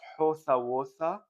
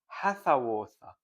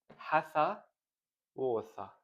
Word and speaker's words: hathwootha: It's not howtha wootha, as I said it, it's hathwootha. Hatha wootha. Let me correct this.